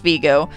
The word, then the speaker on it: Vigo: named after francis vigo who was an italian who helped the americans during the revolutionary war so it should be pronounced viggo but we midwesterners sometimes